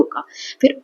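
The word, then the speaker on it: cough: Double O का। फिर ऑफ तो कफ।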